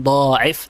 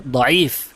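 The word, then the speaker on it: ضعيف: aslihi yang mengatakan pertama salah pengucapan secara besar bukan diif tapi yang benar diif dipanjangkan ainnya bukan dotnya ya langsung dikatakan diif Yang mengatakan demikian siapa?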